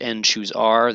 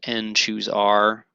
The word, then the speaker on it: n choose r: the arth column uh pronounced n choose R this is also pronounced n choose R uh I know it